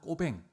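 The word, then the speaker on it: Cauvin: 칼빈의 본명은 프랑스 중세 프랑스어로 발음하면 재앙 꼬뱅 꼬맹이란 이름으로 불리죠.데 현대 프랑스로 하면 짱깔 깔뱅이란 이름으로 많이 불려지기도 합니다.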